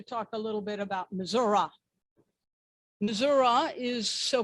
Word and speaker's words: Missouri: Missouri, ra, ra, ra, in an effort to have you all understand why it's pronounced that way. It's also pronounced that way because we're named for the Indians, just the way one does not say Miami, but Miami, hence Missouri.